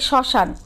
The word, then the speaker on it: শ্মশান: ফলার উচ্চারণ রয়েছে আচ্ছা সেই উচ্চারণে কিছুটা কি পড়ে ঝোক পড়ে এবং সামান্য নাসিক্য স্বর হয় মানে নাকে বাজিয়ে বা চন্দ্রবিন্দু উচ্চারণ হবে যেমন খেয়াল করো একটু